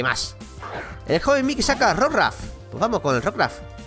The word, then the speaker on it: Rockruff: El joven Mickey saca Rockruff. Pues vamos con el Rockruff. Vamos ahí, que he visto mucha gente decir Rockruff. Es como, ¿Rook por qué? Si es Rock de... como Roca y eso, ¿ves?